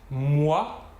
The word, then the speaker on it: moi: Troisième exemple, si l'on rassemble la lettre O et la lettre I, l'ensemble OI se prononcera OUA. OUA.